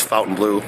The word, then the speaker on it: Fontainebleau: you want to say I think it's actually pronounced Fountain Blue so if you're seeing it differently it's Fountain Blue I did a little research on that today